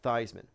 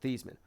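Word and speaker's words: Theismann: thing about um Joe theeman and his name spelled like thigh it sounds like like thyman but theeman um anyway uh he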